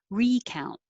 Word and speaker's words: recount: five and number six the noun has stress on the first syllable recount one two and the verb number six has stress on the second syllable recount and i don't